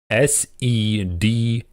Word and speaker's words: Seder: Seder. Cedar. Okay? It's not the tree. It's not with an A, cedar. It's cedar. E-E-R. S-E-D-E-R.